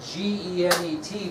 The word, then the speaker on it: Genet: It's spelled G-E-N-E-T, but pronounced Genet.